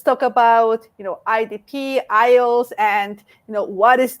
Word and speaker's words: IELTS: again because believe me there are many people who still do not know how to pronounce ielts i get people saying oh yeah the eels or the ilts so let's let's all say together ios okay so what is